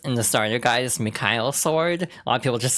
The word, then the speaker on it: Michael Sword: The way it's pronounced in the starter guide is Mikhail Sword. A lot of people just say Michael Sword.